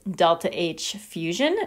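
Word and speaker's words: ΔH fus: solid to a liquid we pronounce this delta h fusion because it is again referring to the melting process for water the value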